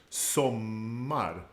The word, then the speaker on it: sommar: There's also the stress is on the first syllable, but the O is short. We have a double M that becomes part of that strong part of the word, sommar.